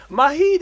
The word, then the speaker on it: Majid: It's like the Spanish, the silent J.